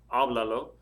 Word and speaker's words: háblalo: Attached to the end, I have háblalo. The stress is 3 syllables or more back.